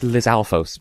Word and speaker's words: Lizalfos: I've heard it pronounced Lizalfos, but that doesn't quite sit right with me. Lizard plus Stalfos, but without the skeletonness.